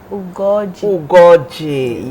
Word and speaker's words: Ugoji: She is Good Ugoji. She told me how to pronounce her name. There's a particular O to the name. Gold Ugoji, yes.